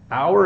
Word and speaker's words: hour: sometimes you don't so in this case the H is silent so it's our and